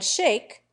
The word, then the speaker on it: Schaick: it crunch oh man shake an old New York name is pronounced Van Schaick a good many American